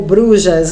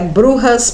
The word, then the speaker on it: brujas: as burras né ou Bruxas né na verdade algumas pessoas Serra pronúncia forma correta é burras porque elas são de origem espanhola E hoje nós vamos